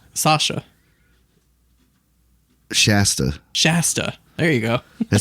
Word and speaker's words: Shasta: how do you say her name sasha shasta shasta there you go it sounds like a [